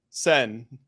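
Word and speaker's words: Seine: protesters who are protesting the SI cyan River sen the sen River okay America it would be pronounced cine in America but they're protesting the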